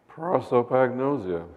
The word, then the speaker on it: prosopagnosia: called prosopagnosia, which is I think that's how it's pronounced. I've never heard anybody else pronounce it. So well, it's known as face blindness. Face blindness, yeah. Well, that's the way Oliver Sacks pronounced it.